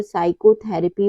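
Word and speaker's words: psychotherapy: पे P silent है rule हमारा क्या कहता है पी के बाद यदि एस आता है तो पी हमेशा साइलेंट रहता है जैसे है साइकोलॉजी साइकेट्रिस्ट और साइकोथेरेपी इन सब में क्या है पी के बाद एस आया हुआ है तो यहां पे पी साइलेंट होगा अगला रूल है लेटर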